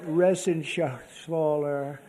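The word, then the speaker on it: Guy Reschenthaler: Ren Shaler you know that Ren Sher he's uh that's actually the way you pronounce it you know nobody else gets it right I got it right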